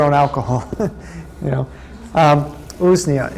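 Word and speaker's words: Usnea: stuff too let me not forget um so ooznia shall i spell that for you um u-s-n-e-a that is a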